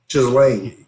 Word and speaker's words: Ghislaine: Ghislaine. Ghislaine? Yeah, so the That H is doesn't sound very silent. good. Oh. Okay. Ghislaine That's Maxwell. not a good Ghislaine name. Maxwell. Her Anyway. name is Maxwell. Ghislaine.